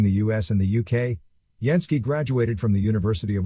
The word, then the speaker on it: Jansky: going to understand that carl gutha yansky is the pronunciation of that i mean a computer would have said jansky yeah jansky that's a